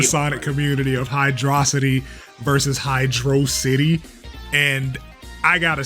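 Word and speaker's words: Hydrocity: Thing was handed to you on a platter to be able to pronounce this right. All the evidence there is concrete and supported and y'all still refuse to say this correctly. It is Hydro City and we're going to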